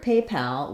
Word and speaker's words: PayPal: the rhythm correct so in the word paypal we have a little stress on both syllables but the main stress is on pay secondary stress on pal so unlike a word like people where we have only the first syllable stressed people pull and then we have that really reduced second syllable we do have a clear vowel and a little stress on pal otherwise it would sound like papal uh that is a